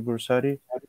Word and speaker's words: Brusatte: them to professor bursari um welcome again professor bursari i hope i pronounced your last name yeah yeah very good